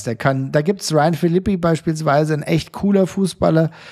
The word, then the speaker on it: Philippi: kann da gibt's Ryan Filippi beispielsweise ein echt cooler Fußballer oder hab ich richtig ausgesprochen ich GL Franzose dann heißt der Ron Philippe wahrscheinlich nicht war ein Philippi so danke dafür neppi aber